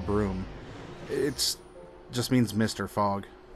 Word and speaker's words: Brume: now this is the broom it spelled BR um II but it's pronounced broom it just means mr.